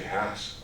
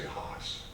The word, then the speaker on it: Hass: want to avocado okay here's the tricky one how do you say Hass avocado because I just said it correctly but people think it's snooty and they say Haas I said that's when